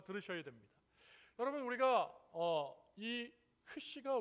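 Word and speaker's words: χ: 크리스마스야라고 이렇게 설명을 해 주시고 저 X는 영어의 X가 아니고 헬라어의 X가 아니라 크이에요. 크시 같이 한번 해 볼까요?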